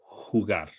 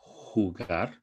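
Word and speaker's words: jugar: with our lesson today hugar really important the pronunciation of J here hugar and every time you see that J it's going to sound the same football basketball rugby netball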